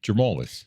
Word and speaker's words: Germolus: Jermalis.